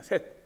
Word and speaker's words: 셋: 셋입니다. 셋. 우리나라 말 하나 둘 셋 할 때 그건 발음이 똑같아요.